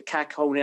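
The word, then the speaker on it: Kähkönen: like with Lankinen, like Kakkonen's been like really Kakkonen. I don't even know how you pronounce his name. Yeah, Kakkonen.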